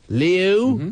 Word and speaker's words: Liu: I believe the last name is pronounced Liu, L-I-U. Liu.